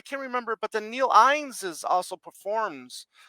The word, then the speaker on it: Innes: But then Neil Innes is also performs. You guys pronounce it Innes or Innes over Innis, there? Innis. Innes. Innis. Innis, Yeah. Okay. Innis.